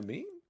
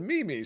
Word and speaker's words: meme: goes, "Girl, do you mean a meme?" And she's like, "Yeah, the Mimi." She goes, "Girl, that's not how it's said."